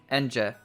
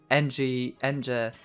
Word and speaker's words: Ange: would be pronouncing engine NJ I would say like that all the time because it feels so weird for me to pronounce it apparently her name is like from Angel but without l so angel but it